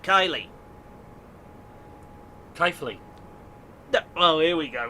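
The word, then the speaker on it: Keighley: north yorkshire station pronunciation it's not keithley it's they call it kylie kathleen oh here we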